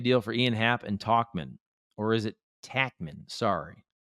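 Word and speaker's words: Tauchman: Scott, can we make a deal for Ian Happ and Talkman? Or is it Tackman? Sorry. I feel like it's Tauch, right? But it's pronounced Talkman.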